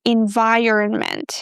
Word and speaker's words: environment: Another word that is commonly mispronounced is environment. Here we start with envi and then we have this earn syllable. Earn as in earn money.